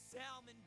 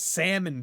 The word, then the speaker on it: salmon: Time to fry up this salmon jerk. Oh, he pronounces salmon with the L. It's salmon, dude.